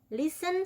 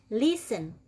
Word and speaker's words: listen: Oke next teacher Oke Listen to me ingat bacanya listen bukan listen ya oke Listen to me